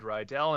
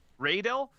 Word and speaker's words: Raedel: anyway over the week brad rydell and i have been chatting because of my radio shoot radel yeah i've been saying it wrong it's because of bob